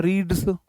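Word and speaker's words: read: दोनों पास्ट में है नहीं है रीड रेड रेड दोनों प्रोनाउंसिएशन अलग होता है यह वी2 ही है अगर विनोद देखो विनोद सिंगुलर सब्जेक्ट है या तो होता है रीड्स अगर रीड्स नहीं है इसका देखो रीड की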